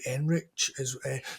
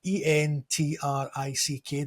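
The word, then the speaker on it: Endrick: They've also got Enrich, not Enrich, sorry, Entrick, the Brazilian guy.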